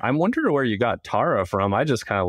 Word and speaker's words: Tarah: And I just realized I haven't seen your name wrong the entire time. It's actually Tara.